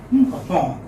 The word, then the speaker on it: upon: So the stress would come on the second syllable. Upon.